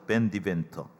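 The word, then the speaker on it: Van DeVenter: 보시다시피 50장의 작사가는 JW 이게 이제 빤 그러니까 네덜란드 사람들에 쓰는 이름인데이 사람 미국 사람이니까 벤이라고 읽겠죠 밴디 벤터 1896년이 찬송가는 1896년에 밴디벤터라고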